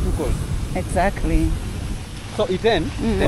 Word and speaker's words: Iten: So the name ITEN is a corruption of the word Hill 10. At okay. that time, majority of the locals were not learned. So pronouncing the word Hill 10 was a bit of a problem.